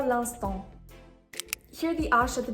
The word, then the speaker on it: l'instant: For l'instant, there are 3 silent letters, the 2 N's and the te.